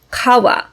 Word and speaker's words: 川: also three very simple strokes this kanji is kawa meaning river when you look at it you